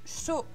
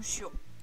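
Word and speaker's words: しょ: Là, il faut faire attention, il y a une petite exception. C'est bien shi plus un petit ya, petit yu, petit yo. Mais il n'y aura pas de y prononcé. Ça va nous faire sha, shu, sho. Et pas shia, shu ou shio.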